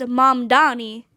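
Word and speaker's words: Mamdani: from a debate with Andrew Cuomo and he mispronounced his name. So M mom Mandani was like the name is M Donnie and spelled it out and then people put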